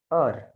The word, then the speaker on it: heures: Je prends le dîner à 20 heures. H is silent. H is silent.